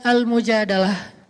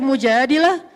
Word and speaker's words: Al-Mujadalah: Jadi tergantung kita bacanya dilah atau dalah. Kalau kita baca mujadilah berarti perempuan yang lagi curhat. Kalau kita baca almujadalah berarti curhat itu sendiri.